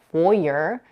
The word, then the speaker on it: foyer: in the US is foyer with a stress on the first syllable and with an R